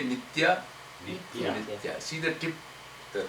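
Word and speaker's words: नित्य: this half letter coming which indicates when you pronounce it you have to just pronounce it with the tip of your tongue nity say nita nitya nitya see the tip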